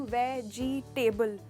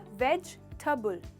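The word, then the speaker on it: vegetable: Generally हम वेजिटेबल ऐसे pronounce करते हैं, पर दोस्तों ये टेबल नहीं है। टेबल तो हमारा मेज होता है। यहाँ पर इसका प्रोनाउंसिएशन होता है वेजिटेबल। वेजिटेबल, तो इसमें सिर्फ 3 हिस्से हैं, ना कि वेजिटेबल।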